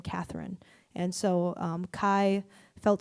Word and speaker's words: Kai: And so Kai felt so fitting because it rhymes with Bai. And also Kai means victory, but not like from conquest.